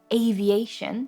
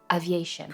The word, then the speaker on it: aviation: So in the word aviation, that A sound is A, but I think I heard Thomas say aviation.